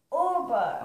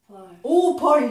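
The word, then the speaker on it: oval: Over. Over. 아. V I S 붙이면 돼. Over. Over. 오벌 이것은 비발음이야. 근데 선생님이 V라 그랬지? 토끼 빨아 해줘야 돼.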